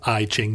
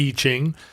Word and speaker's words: I Ching: and and I'm sorry I mispronounced it as I Ching the E Ching does each person go